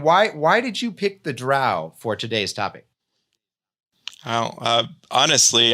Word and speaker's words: Drow: the D&D lexicon, and he said how to pronounce Drow, and it helpfully says, Drow. It lists out the word, and it says Drow.